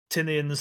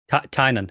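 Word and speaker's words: Tynion: Looking at Tinian's latest. Tynan is how you say his name, by the way.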